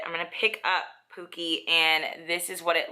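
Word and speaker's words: Pukey: It's spelled P-U-K-E-Y, so I think it's supposed to be Pookie, even though I would spell it with like 2 O's.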